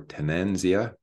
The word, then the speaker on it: Tanzania: near to the border of Tanzania or tenenzia that's how they say it uh I'll keep saying Tanzania and uh we're brought